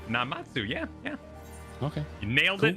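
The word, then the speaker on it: Namazu: He's a Namatsu fisherman, whatever that means. A regular here. Maybe we'll find him if we look around. Did I pronounce Namatsu? Is that right? Namatsu.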